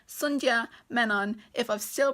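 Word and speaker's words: Sandhya Menon: it update from Futurama the author's name is pronounced Sun Jia men on if I've still pronounced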